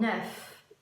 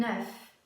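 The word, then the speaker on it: œuf: oeuf ses leçons oui et on prononce le f 1 oeuf comme le numéro 9 oui un oeuf mais quand il y en a plusieurs on prononce eu d eux c'est le sont eux comme dans mon mieux où je veux je sais que c'est un peu compliqué mais la prononciation change du singulier au pluriel je répète un oeuf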